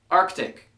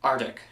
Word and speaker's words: Arctic: it applicable number 15 Arctic like the Arctic Circle yes there is a c in there it's not pronounced Arctic number 16 now in